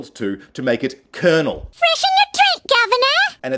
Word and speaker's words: colonel: back in and essentially we ended up in a situation where we were writing the words in a manner that was similar to Italian but pronouncing it in a manner that was similar to the French much to the confusion of everyone in English so for me the